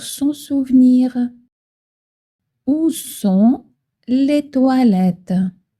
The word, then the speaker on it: toilettes: Attention, le O i se prononce wa toilette comme dans le mot water en anglais. C'est facile pour son souvenir. Où sont les toilettes ?